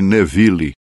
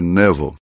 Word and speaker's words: Neville: E no parágrafo 77, ele começa a fazer menção do irmão Neville, que chamamos aqui de Neville, mas na verdade a pronúncia correta do seu nome é Neville.